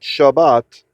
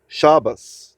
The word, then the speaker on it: Shabbat: That's why for the same reason that Shabbat is shabas, right? You might have always wondered why good shabas in Yiddish, right?